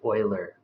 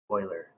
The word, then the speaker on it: Euler: It's actually Euler. Oh, okay. Oh, Wheeler. Oh, all right, good. Yeah. Euler, like oil used for cars. Euler.